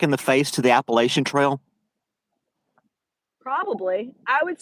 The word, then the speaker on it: Appalachia: Boone, North Carolina, and she trained me on how to say it. So it's Appalachia. I Appalachia. know I grew up saying Appalachian too, but Whatever.